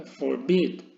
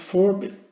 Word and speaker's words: forbid: Forbid, no es forbid, es forbid, acentuación en la última sílaba, ¿vale?